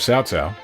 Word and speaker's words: Cao Cao: in the day they used to call on Cao Cao well now everyone knew how to pronounce his name properly or a lot of Chinese names probably but no one got in the way of sow sow then once you pick